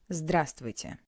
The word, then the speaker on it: здравствуйте: Здравствуйте. As I already said, in Russian when reading all letters are pronounced, but this word is an exception. We don't pronounce the highlighted letter V.